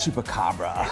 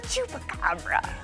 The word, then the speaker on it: chupacabra: The chupacabra. It's the chupacabra. The Texas Tasmania. I don't know. There's a Texas something. Is it the chukab?